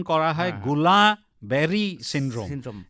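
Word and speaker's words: Guillain-Barré: incidence কম হবে হ্যাঁ হ্যাঁ গোলাবেরি সিনড্রোম এটাকে উচ্চারণ করা হয় গোলাবেরি সিনড্রোম সিন্ড্রোম না কিন্তু কেন এই নামটা অদ্ভুত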